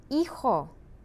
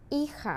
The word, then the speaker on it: hijo: Hijo, hija, remember the H is silent, mis hijos, son, daughter, my children, mis hijos.